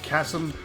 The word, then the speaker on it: Chasm: With the inner, yeah, if you don't know the Chasm, as it should be pronounced.